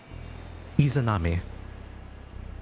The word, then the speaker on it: Izanami: How do I pronounce her name? Izanami. I'll type it out for you. Thank you. Izanami.